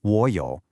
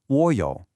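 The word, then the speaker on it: 我有: In Mandarin, whenever you have two third tones right next to each other, the first one almost magically changes into a second or rising tone. So, instead of saying a clunky wǒ yǒu, it smooths out into wǒ yǒu.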